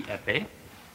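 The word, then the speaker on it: épée: The next one, we call it the epee. That's right. The epee? How do you spell that?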